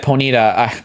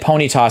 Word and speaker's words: Ponyta: I've said Ponyita. I've said ponyt since I was 7 years old. Pony ponyta or do you say or do you say ponyt like pony? Cuz it's p it's ponyt cuz I I've never heard he was the first person I've ever heard say ponyita like ever.